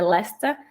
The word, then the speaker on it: Leicester: Para os ingleses britânicos é Leicester. A pronúncia aqui, o inglês, gente, assim, o inglês